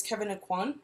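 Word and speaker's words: Kevyn Aucoin: I want something special I think it's Kevin aucoin is how you pronounce it and it's just the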